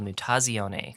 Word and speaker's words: Mutazione: a little Indie called mutasione and this is uh it's it's pronounced via the Italian word for mutation it's called nutazione and I have sent